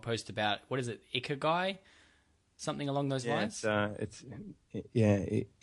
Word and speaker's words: Ikigai: I know that you recently made a blog post about, what is it, Ikigai? Something along those lines? Ikigai. Ikigai. It's Ikigai. hard to pronounce. It's a Japanese word.